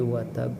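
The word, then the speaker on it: وتب: Lihat di ba akhir ada tasydid ya. Maka bacanya adalah tasdidkan terlebih dahulu baru qalqalah. Tabbat yada abi lahabi wa tab. Nah, gitu ya. Jadi watab tasdid dulu baru qalqalah.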